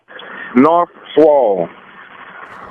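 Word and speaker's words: Knarlswal: North Swall.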